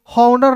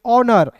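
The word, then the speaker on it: honour: आवर ओ यू आर को पढ़ेंगे आवर एच को साइलेंट करेंगे समझ गए फिर देखिए एच ओ एन ओ यू आर इसे पढ़ेंगे हॉनर नहीं पढ़ेंगे इसे पढ़ेंगे ऑनर जैसे मैं दोस्तों ये जो मेरा चैनल है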